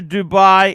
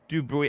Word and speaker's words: Dubuis: Let's hear George's opinion on independent watchmakers, FB Jean, Urban Jorgensen, Roger Dubai, etc. Dubuis. I like to mispronounce it, Wizard.